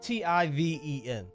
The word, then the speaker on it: Tiven: fields loser what's his name again josh tivan spell it t-i-v-e-n t-i-v-e-n tiven loser loser josh tiffen you are